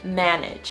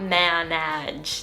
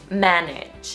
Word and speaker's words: manage: it for this word the second a is pronounced as more of an e sound making the pronunciation manage not man edge that just sounds so weird and it's hard to say just manage the stress is also